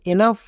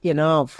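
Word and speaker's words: enough: next এনাফ কেন কারণ এখানেও ওই ইউ এর পরে জি এইচ আছে তাই জি এইচ এর জন্য ফো ওয়াই ইউ এর জন্য আই এন এর জন্য এন তাহলে কি হলো এন প্লাস আ প্লাস ফো মানে এনাফ এনাফ তাহলে এখান থেকে আমরা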